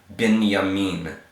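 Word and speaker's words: בנימין: have next Oh move this would typically be like a bait sound but here it's more like a V sound moving moving yah yah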